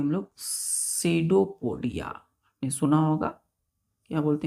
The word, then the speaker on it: pseudopodia: पी यहाँ पे silent है, ये बिल्कुल नहीं बोलेगा, साइलेंट है, तो पढ़ेंगे सीडो। सी, यू भी साइलेंट हो जाता है, यहाँ पे यू भी साइलेंट हो जाता है, तो पढ़ेंगे सीडोपोडिया।